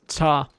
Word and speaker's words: 查: Now this 查 is just cha. So this silent T at the end completely disappeared.